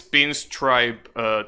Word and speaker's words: Pinstripe: I will assume, because how else will you pronounce it? Well, I guess you could say pinstrip instead of stripe, but that doesn't sound right.